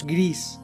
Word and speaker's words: Gris: I'm pretty sure it's Gris, but I'm going to feel poorly if it's. So it's a Spanish studio, and it's the word for gray.